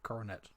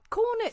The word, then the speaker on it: cornet: I think it's potentially coronet.